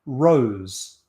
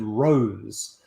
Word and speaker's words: Rose: a lot of evidence that Shakespeare and others pronounced it Rosley, and that the male admirers of the Earl of Southampton called him Rose for short.